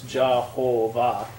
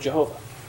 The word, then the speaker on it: Jehovah: they're wise become J's Jehovah and the W becomes a V because that's how you pronounce the German words so that's this the